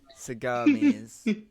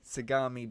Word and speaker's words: Sagami: Bay seamy Sega you seamy I feel I'm pronouncing that wrong but okay I think it's seami yeah the the gapa pami does sagami sagami Bay does soundi the gapa parents ravage cities